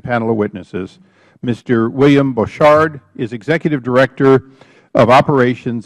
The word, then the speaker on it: Borchardt: Bouchard, is that correct pronunciation?